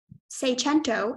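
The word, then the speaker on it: seicento: hi your word is say chento Magento can I have all the information please say chento is the only pronunciation it's a noun it's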